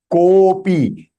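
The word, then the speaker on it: कोऽपि: It is Kopi. The Avagraha that you see, that the before Avagraha, the alphabet that is Ko, you have to extend a light one, little, because it is one time.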